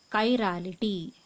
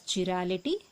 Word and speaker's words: chirality: So the next property in this one is called as chirality. Some of them call it as chirality, It is up to you. But the actual pronunciation is chirality.